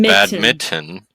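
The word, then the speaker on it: badminton: Yeah, it's pronounced bad mitten.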